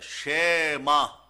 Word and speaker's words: 쉐마: 쉐마. 쉐마. 예. 근데 발음이 저기 세마역할 때 그 발음하고도 비슷해요. 그런데 이거는 이건 약간 쉐에 가깝다고 하는데 그런데 말이에요.